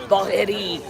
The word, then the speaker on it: Bagheri: Yeah, it's like spelled Bagger High, but I don't even say it right because it's like Middle Eastern. It's Bagheri.